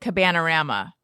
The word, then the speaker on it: Cabanarama: How would you pronounce this? I would say Cabanarama. Correct.